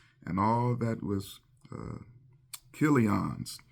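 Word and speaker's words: Chilion: that was imc's and all that was uh kon's it's spelled CH but it's pronounced c not cha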